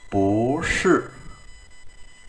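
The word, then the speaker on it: 不是: học phần ngữ pháp, bao giờ hai thanh bốn đi liền với nhau thì thanh đầu tiên sẽ phải biến thành thanh hai. Ví dụ chứ bù sư thì chúng ta đọc là bù sư, bù sư.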